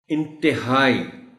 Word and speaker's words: انتہائی: خاص توجہ چاہیں گے۔ انتہائی، تے کے نیچے زیر کا خاص خیال رکھا جانا چاہیے، چونکہ عام طور پر بولتے ہوئے لوگ اس لفظ کو انتہائی پڑھ جاتے ہیں۔